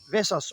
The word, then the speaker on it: Vesaas: saaz İskandinav Edebiyat Ödülü Norveçli yazar tarjei ve saas Vas okunur Bak ne kadar güzel işte böyle insanı Zorlayacak Vas okunur diyor çağımızın en büyük sanatçılarından